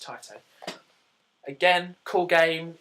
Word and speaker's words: Taito: I used to think it was Tato, but I'm sure it's Taito.